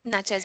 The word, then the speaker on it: Natchez: going from Baton Rouge to Natchez, I think. Natchez? Is that Yep. how you say it? Yeah. Natchez, Mississippi.